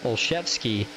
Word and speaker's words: Olszewski: Joshua Olszewski says, while we're talking pronunciation, it's Olszewski.